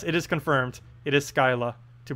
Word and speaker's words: Scylla: pronouncing anything yes it is confirmed it is Scylla to pronounce the new troop thingy the one that's